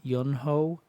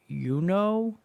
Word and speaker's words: Yunho: yunho you know see I've heard people pronounce his names both ways yunho but I think it's more like youo because it's spelled the exact same way as the other youo from TV TVXQ um like their first